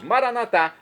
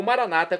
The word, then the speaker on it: Maranata: E agora eu clamo do aramaico dialeto de Jesus, Maranatá, como dizemos nós católicos, ou Maranata, como dizem nossos irmãos separados. Não importa a pronúncia, o significado é o mesmo.